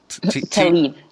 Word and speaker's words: Tlaib: And you describe how Raquel worked for, or was a volunteer for Rashida Tlaib. Is that the way we pronounce that? Tlaib.